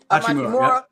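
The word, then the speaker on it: Hachimura: But seeing Austin step up, seeing Amachimura, that's how you pronounce his name? Amachimura.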